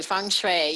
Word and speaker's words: feng shui: saying it right you are saying it correctly feng shui yes well so why don't you start by